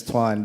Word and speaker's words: Tuan: Without the Vietnamese accent, it's Tuan, but she says Tung, which is a very southern way of saying my name.